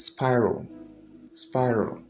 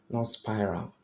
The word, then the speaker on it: spiral: the first presentation, AL, where you find AL, EL, or LE, it sounds So it's spiral, not spiral.